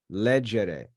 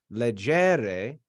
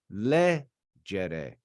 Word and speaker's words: legere: In the third conjugation, we don't do that. It's not legere. That's not how it's pronounced, because that e, that second e here, the second to last e, is short. So instead of legere, it's legere, legere.